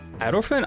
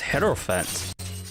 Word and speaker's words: hierophant: freedom and new power wait it's pronounced as aerophone i thought was pronounced as heterophant have i been mispronouncing that the entire time holy fair close i thought i really thought it was pronounced as head or fent screw it i'm just